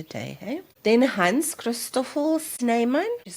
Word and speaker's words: Snijman: He later became the founding ancestor of the Snan family in South Africa. So if I put the names and I'm just pronouncing so you see the different uh writing but I'm just pronouncing it that way.